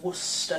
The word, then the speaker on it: Worcester: Worcester sauce yes Americans that is how you pronounce Worcester sauce well aware that it's spelt word sexter